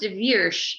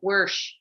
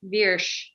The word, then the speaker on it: Virsh: So speaking to that, I think Kevin, it's pronounced Virsh. I was pronouncing it Wersh. Yeah, me too. Oh, sorry. But he said Virsh.